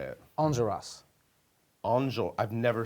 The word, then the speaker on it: Enjolras: Enjolras.